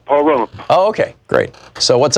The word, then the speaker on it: Pahrump: Kenneth in Pahrump. I know I'm mispronouncing that, Nevada. Hey, Kenneth, how do you say the name of your town? I've been there. You did it just right, Pahrump.